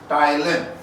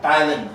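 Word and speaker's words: ptyalin: and saliva contains Thailand Thailand you see also Thailand P is silent we don't from the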